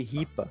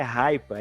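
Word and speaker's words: HIPAA: que ele chamou de Ripa na verdade eu achava que o que a pronúncia era até raiva é h i p a mas é um protocolo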